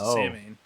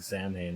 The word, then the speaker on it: Samhain: And then he took Halloween 2 with him to Samhain. Okay. I remember when you first told me that we'd been pronouncing Samhain wrong the whole time.